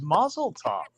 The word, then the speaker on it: mazel tov: always heard it as muzzle top like it's like almost it has an f at the end because that's how it's pronounced when you're reading it as english in hebrew it's a